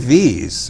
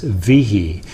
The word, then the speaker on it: Viehe: If you're from my side of the family, the correct pronunciation is with one syllable, V. If you are from this other misguided side of the family, the pronunciation is Viehe.